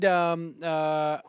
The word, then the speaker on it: Kneffel: And I read Kneffel. Is that how he pronounces his name? Yeah, John Kneffel. John Kneffel. I say Kneffel because Milo's got a book, Knuffle Bunny, and it goes back and forth.